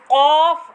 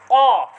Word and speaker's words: ق: Both are pronounced as kaf, but there is little bit difference, and that difference is in sound. We have to pronounce qaf pur qaf. Qaf. Qaf. For that we have to expand our mouth.